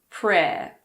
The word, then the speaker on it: prayer: It's silent in the word prayer. Prayer.